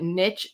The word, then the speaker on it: niche: and he said that English speakers Frenchified the original word niche to make it sound fancier and started saying niche. But niche is the accurate and original pronunciation of the word.